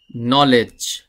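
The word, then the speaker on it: knowledge: ই ডি জি ই নলেজ শব্দটির উচ্চারণের সাথে ক্যারেক্টারের কোন মিল নেই ক্যারেক্টার বা লেটারের কোন মিল নেই নলেজ আমরা এখানে কে যে ক্যারেক্টারটি আছে বা এই কে লেটারটি কিন্তু আমরা উচ্চারণ করছি না এখানে নলেজ আবার এখানে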